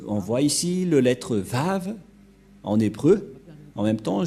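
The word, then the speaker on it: ו: yahoshua est vrai que ça se prononce vraiment V voilà donc le vave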